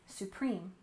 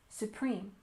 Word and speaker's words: supreme: and next we have Supreme Court we stress the second syllable in Supreme supreme altoe Supreme Court this